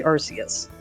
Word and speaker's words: Arceus: So the Japanese spelling for Arceus literally breaks it down into Aru Se U Su as far as the characters. So basically Arceus. Except more properly said in Japanese.